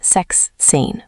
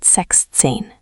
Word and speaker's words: sechzehn: Important, sechs loses the final s sound in the middle. Not sechszehn, but sechzehn.